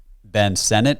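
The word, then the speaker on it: Ben Sinnott: Texas I personally am a bigger fan of Ben Senate is that how you say his name yes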